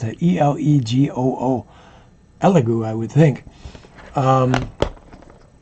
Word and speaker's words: Elegoo: I'm not sure how to pronounce it. E-L-E-G-O-O.